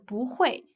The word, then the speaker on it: 不会: But it changes to the second tongue when it is immediately followed by another fourth tongue syllable.